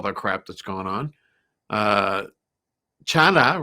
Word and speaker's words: Chana: Chana rhymes with sauna.